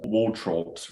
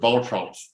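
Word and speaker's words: Waltraut: so this is um a hellenium wall trout wall um which i've known before lots of times my pronunciation was completely wrong trumps if you okay helenium and voltron allen just says it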